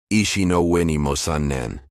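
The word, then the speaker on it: 石の上にも三年: The old Japanese saying behind this story is Shinoshan ni mosannen, pronounced roughly ishi no ue ni mosannen.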